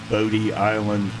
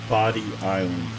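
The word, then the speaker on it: Bodie Island: uh a local pronunciation there is no bod Island Lighthouse it is body Island if you want to fit in with the locals make sure you say body instead of Bo that that particular Lighthouse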